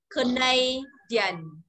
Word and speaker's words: Canadian: Canadian. Canadian. Nó phải nối lại với nhau, không đọc là Dian đâu nhá.